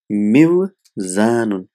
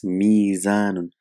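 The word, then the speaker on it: ميزان: bring it in mif'alun, so it will be mivzanun. Mivzan. But we know the waw and kasra, they don't go together. So it's difficult to pronounce. They are not compatible. So what happens in the language? This waw is changed into Yeah. So it becomes mizanun.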